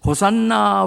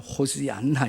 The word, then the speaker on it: 호시안나: 다 같이 호산나 라바. 정확하게 하면 호시안나 이렇게 정확하게 말하면 그렇게 발음을 하는데 위대한 구원의 주님 그렇게 외쳐요.